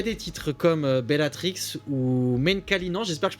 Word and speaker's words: Menkalinan: Alors dans cet album, il y a des titres comme Bellatrix ou Menkalinan, j'espère que je prononce bien. Menkalinan, ouais.